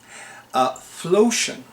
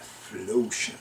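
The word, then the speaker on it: Phlocion: Flotion. And I'm going to spell it for you. It's capital P-H-L-O-C-I-O-N. Flotion.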